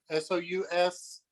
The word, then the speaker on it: sous vide: sous vide machine will basically it'll set the water at any temperature you want.